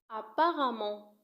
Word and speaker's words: apparemment: Apparemment تكتب apparemment ولكن تنطق apparemment.